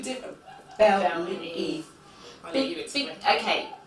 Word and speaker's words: BelEve: It's BelEve_UK, and BelEve is spelled BelEve. It's Bel and Eve, not BelEve. So where did? All right, because that's how I was like, BelEve, because that's how it looks, you know.